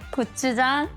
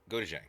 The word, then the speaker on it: gochujang: whole chunk of kimchi, the good old spam, gochujang, so chili paste. Gochujang. How'd she say that? I've been saying it wrong the whole time. The good old spam, gochujang, so Gochujang?